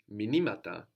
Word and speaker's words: μηνύματα: So the accent moves. Minima, minimata. The stress moves.